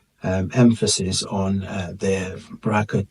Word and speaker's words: BRCA: So uh recently um there's been more um sort of uh um emphasis on uh the Bracka 2 gene uh and uh so people who